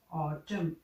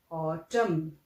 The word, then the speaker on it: autumn: Fall means ऑटम, AUTUMN, that is ऑटम। Last में N silent है, वो हम नहीं बोलते हैं, दैट इज ओनली ऑटम।